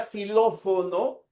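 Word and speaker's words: xilófono: En cambio, en la palabra silófono pronunciamos una s, ¿no?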